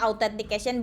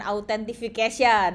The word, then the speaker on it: authentication: Bacanya authentication bukan authentification.